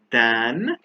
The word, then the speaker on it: than: he is taller than so t h a is pronounced than and th e is pronounced then we use then when